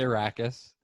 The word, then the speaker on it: Arrakis: I'm some of the words, the ones you just pointed out, I would say it's definitely Arrakis.